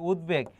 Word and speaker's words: উদ্বেগ: এবং এর পাশাপাশি আরেকটা মনে রাখবা, এই যে উদ্বেগ, এখানে ব ফলার উচ্চারণ বহাল আছে, গতবারও এটা এসেছে, উদ তারপর হচ্ছে বেগ, এখানে ব ফলার উচ্চারণ বহাল আছে।